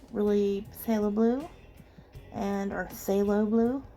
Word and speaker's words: phthalo: phala blue and our phthalo blue I don't think you pronounce they're enunciate the pH um and this middle purple pink is quite nice I really like that phthalo green like say hello green anyway there's some really